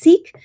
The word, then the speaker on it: CEEQ: It's CEEQ, which is pronounced seek.